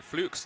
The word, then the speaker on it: Fluke: Just realized I've been getting Fluke's name wrong.